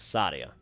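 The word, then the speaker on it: Saadia: name is Sadia and that I've heard it pronounced correctly it's Sadia all righty then oh you're malice machus I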